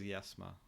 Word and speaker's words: Yethma: They spell it as Yethma, like with a th, the Yethma, but they pronounce it as Yesma, which is much easier to pronounce.